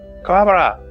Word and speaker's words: Kuwabara: It's because, like, in the dub, they say Kuwabara, but, like, in the original, it's like Kuwabara, you know? It's like even emphasis.